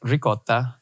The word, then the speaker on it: ricotta: And every time she pronounced the word spaghetti, she had an American English accent throughout everything, but then would say like ricotta, spaghetti. And people would always give her crap for it. But Italian was her native language. And that is how you pronounce those words.